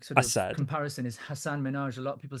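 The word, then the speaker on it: Hasan: It's not Hassan, it's Hassan. That's how he pronounces his name.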